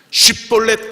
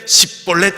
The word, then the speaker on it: 쉽볼렛: SH 발음을 뭐예요? 쌀 발음을 못하고 살 이럽니다. 쉽볼렛 그래야 되는데 십볼렛 이래요.